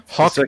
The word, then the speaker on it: Haack: HAACK is. Like a W. It's not hack is back.